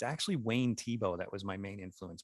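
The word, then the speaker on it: Thiebaud: like really blue Shadows Tebow's really hard to spell don't ask me how to spell it t h i e t h i e b-a-u-d t-h-i-e-tibo tip I would never go fee bowed yeah that's really I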